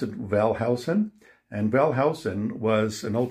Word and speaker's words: Wellhausen: We pronounce it Wellhausen.